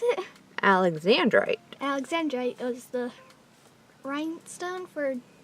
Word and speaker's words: alexandrite: How do you pronounce it? Alexandrite.